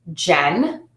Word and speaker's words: Jen: If you use the short version of my name, Jen, that has one beat or one syllable.